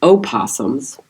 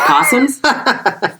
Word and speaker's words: opossums: The O is silent. So you don't pronounce it o possums. It's just possums.